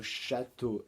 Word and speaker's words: château: Le mot d'hier, c'était le mot château. Et effectivement, le mot château a 2 syllabes. Château. La première, c'est chat. La deuxième et dernière, c'est to.